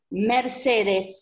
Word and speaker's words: Mercedes: Mercedes Caracciolo. Mercedes. Mercedes. Comme la marque de Mercedes.